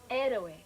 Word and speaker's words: Héroe: How do you pronounce it in Spanish, Mary? Héroe.